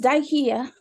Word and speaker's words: Dikiea: about about yourself well my name is daihia as they say here in Ohio like Ikea with a d yes because that's how they get get the long eye otherwise they don't pronounce it correctly um I am the